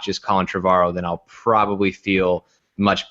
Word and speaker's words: Trevorrow: And so, and I don't feel the same sturdiness from I say his name wrong. Trevorrow. I always say we- Trevor or something.